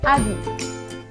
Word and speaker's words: habit: On dit habit. Alors, les lettres muettes sont H et T. Alors, H se trouve au début du mot et T se trouve à la fin du mot.